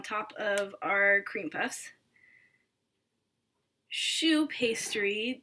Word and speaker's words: choux: cream puffs shoe pastry the word shoe in French means cabbage actually due to the shape that they take when they bake and it's obviously not spelled like shoe that goes on your feet we're talking c-h-o-u-x shoe pastry so I've put the